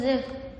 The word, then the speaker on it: the: Балам, мына жерде тхе деп тұр ғой, No, this pronounced the.